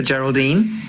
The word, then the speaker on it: Geraldine: Do you know, actually, Geraldine, I've noticed something. That G letter is at the start of your name. But it's a soft G that makes the sound in your name, J, J, J.